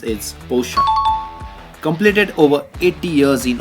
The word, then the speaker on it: Porsche: Many people pronounce it Porsche, which is likely to be incorrect. The correct way to pronounce is Porsche.